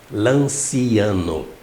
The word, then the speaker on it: Lanciano: Se escreve Lanciano com C. Lanciano. Pronuncia-se Lanciano.